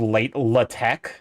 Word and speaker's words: LaTeX: It's like how I believe the software is called LaTeX. But it's spelled latex.